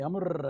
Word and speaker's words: Amr: it properly the first name is amir and usually my scottish friends would call me amer and roll the rs and uh the reason